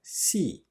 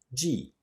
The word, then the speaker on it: 系: The last Chinese character, xi, which means to bind or to join. In the word guanxi, it loses its tone. When he is alone, it can also be pronounced ji.